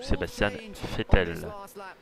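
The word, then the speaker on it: Sebastian Vettel: Sachant que l'Allemagne aura également Adrian Sutil et surtout Sébastien Vettel, si on prononce en allemand.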